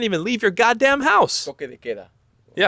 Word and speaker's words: toque de queda: Toque de queda.